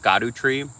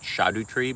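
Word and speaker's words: Scadutree: mean it's called it everyone thought it was pronounced scadu tree but now vati video is pronouncing it shadu tree because S C A du was an Old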